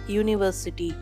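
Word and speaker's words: university: உதாரணத்திற்கு அ யூனிவர்சிட்டி, அண்ட் யூனிவர்சிட்டி கிடையாது, ஏனென்றால் யூனிவர்சிட்டி YOO என்ற உச்சரிப்போடு ஆரம்பிக்கிறது.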